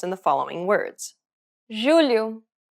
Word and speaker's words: julho: The letters J and G can sometimes be pronounced like J. It sounds like the S in pleasure.